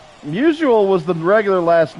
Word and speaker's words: Musial: his family and locals pronounced it Mushil instead of Musial.